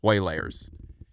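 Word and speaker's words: Waylayrs: Um there's some on disogg it's spelled w a y l a y rs. Way layers.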